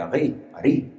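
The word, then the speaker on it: ארי: Ellos no pronuncian la R, Ari.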